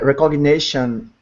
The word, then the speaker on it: recognition: a very soft sound you don't even hear it recognition recognition recognition so